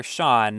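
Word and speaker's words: Sián: It's just that all of its other stats are quite good, although not as good as those of the Lamborghini Sian, or Sean, apparently how it's pronounced.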